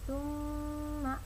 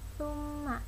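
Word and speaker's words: ثُمَّ: Nah, bacanya summa, bukan summa, tapi summa.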